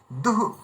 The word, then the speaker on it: দুঃখ: বললে হবে না দুঃখ দু মানে ওখানে বিসর্গ চিহ্নের উচ্চারণটা এভাবে করতে হবে দুহু দুঃখ দুঃখ সুখ দুঃখ